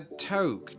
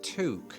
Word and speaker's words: toque: A toque. That's not how you say it. It's pronounced toque.